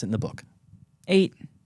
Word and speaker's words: eyot: How did your boy pronounce it in the book? 8. It's 8.